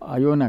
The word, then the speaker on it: Iona: Greece के पास ही एक बहुत ही छोटा सा आइलैंड है जिसको आयोना कहते हैं, IONA ये स्पेलिंग है उसका।